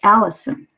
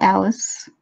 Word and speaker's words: Allison: the way it is I want my name to pronounced Alison not Alice not you know anything else so down and maybe